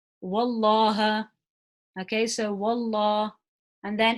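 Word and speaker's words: والله: So if the letter before the name of Allah has a fatha or a dhamma, we pronounce the lam in the name of Allah heavy. If the letter before has a kasra, we pronounce the lam in the name of Allah lightly. Okay, so let's use the examples. So if it's got a fatha on it, I would pronounce this as wallah, wallaha.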